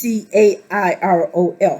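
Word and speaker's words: Cariol: I think it's pronounced right, but it's Cairol.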